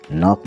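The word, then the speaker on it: knock: नव मतलब जानना के एन ओ सी के नॉक मतलब खटखटाना के एन आई जी एच टी नाइट मतलब योद्धा तो इसमें के साइलेंट है फिर हम देखें एल अल्फाबेट जो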